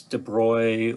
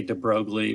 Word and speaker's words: de Broglie: butcher de broglie's name he's french so it's de bruy or however the french might pronounce that i say de broglie which a lot of people do but he came along